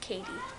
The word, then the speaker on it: Cady: It's spelled C-A-D-Y, but it's pronounced Katie.